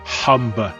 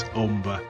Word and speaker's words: Humber: You'll often hear it mispronounced as Humber Bridge, but rest assured it's Humber, as in Hull.